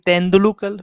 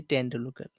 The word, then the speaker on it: Tendulkar: call the Sachin Tendulkar?